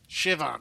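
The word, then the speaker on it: Siobhan: Shivon. Oh, it's pronounced Shivon.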